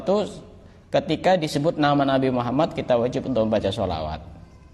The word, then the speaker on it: Muhammad: Ala Muhammad dan itu baca sholawat itu harus yang bertasydid itu harus benar-benar di tasydid misalkan Muhammad itu kadang-kadang sebagian orang bacanya Allahumma sholli ala Muhammad Muhammad tidak ada tasnya kan Allah mau Muhammad